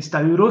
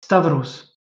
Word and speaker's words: Stavros: Au départ, ça se prononçait Stauros. Mais Stauros, c'est très difficile à prononcer, donc il prononçait Stavros.